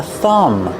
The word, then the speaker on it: thumb: This finger is called a thumb. Remember with thumb, the B at the end is silent.